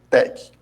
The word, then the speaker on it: TeX: com o Sistema PEC escreve terex para gente pronuncia como Tec bom ele é formado